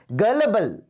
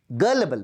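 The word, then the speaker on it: gullible: गलेबल, गलेबल pronunciation का ध्यान रखना, गुलीबल नहीं है ये, है ना?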